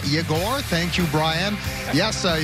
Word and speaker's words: Yegor: Yes, and the Y is silent. It is Yegor, not Yegor.